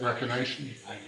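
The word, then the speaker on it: Reconation: Recoation.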